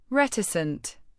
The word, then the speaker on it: reticent: Reticent. Pronounce it as ret-i-cent. The first syllable, r e t, sounds like red without the d.